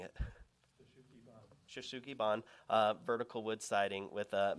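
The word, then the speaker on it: shou sugi ban: The house features, and Jared's going to be upset with the way I pronounce it, Shaosugi and vertical wood. What's the right way of pronouncing it? Shoshugi-ban, vertical wood siding with a metal panel at the parapet.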